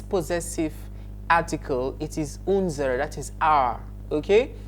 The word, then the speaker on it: unser: That is unser Fernseher. Take note of the pronunciation, unser.